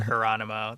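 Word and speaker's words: Hieronymo: The Sam Hieronimo takeover, I believe is the way to pronounce that. That's how I do it. Like Geronimo, but Hieronimo. That's the only way I can do it.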